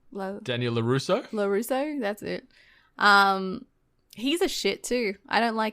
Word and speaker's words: LaRusso: Daniel how do you say his last name lazzo Daniel Larusso Larusso that's it um he's a